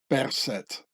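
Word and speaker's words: Berset: name should be pronounced percet as the swiss germans would pronounce it so i have a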